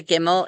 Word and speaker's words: gimel: There is no J sound in Hebrew. And so it doesn't matter what letter or what vowel sound comes after the gimel, it is going to sound like a hard G sound.